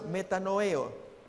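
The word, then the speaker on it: μετανοέω: mateo 12 41 la otra palabra se pronuncia meta no veo que es 1 cambio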